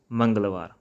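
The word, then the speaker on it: ਮੰਗਲਵਾਰ: So at the end, make sure when you're going to pronounce their names, pronounce strong R at the end, like somvaar, mangalvaar. Alright?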